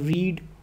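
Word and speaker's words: read: verb कहेंगे इसी तरह रीड जो है यह जो है फर्स्ट फॉर्म ऑफ वर्ब है इसकी पास्ट फॉर्म रेड है स्पेलिंग यही होंगे लेकिन वो रेड हो जाएगा पढ़ने में प्रोनंसिएशन रेड होगी तो उसमें भी ईडी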